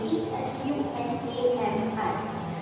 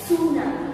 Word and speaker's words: tsunami: So tsunami, the spelling of tsunami is T-S-U-N-A-M-I, but T is silent. We are not pronouncing it as tsunami. It's tsunami. Now, what is tsunami?